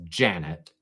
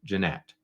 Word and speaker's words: Jeanette: defendants mocked attorney Brun by mispronouncing her name as Janet instead of Janette now that is not